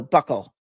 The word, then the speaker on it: buccal: Buccal comes from Greek word cheek, and it is pronounced buccal, like so buckle. Not you, buckle. I think it depends. It's a regional thing. It depends on who taught you. Some people say buckle, some people say buccal.